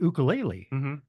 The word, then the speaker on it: ukulele: or the the harmonica you also play the ukulele uh and Ben hassinger would be very happy with the way that I just pronounced that because that is the proper pronunciation